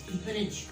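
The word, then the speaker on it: bridge: Very next rule, उसके बाद आपका आ जाता है, अगर डी जी या जी ई से पहले आएगा तो हमेशा डी साइलेंट होगा।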